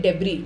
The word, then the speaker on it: debris: The average person ingests over 5,800 particles of synthetic debris. Debris, S is silent in debris नहीं बोलते हैं.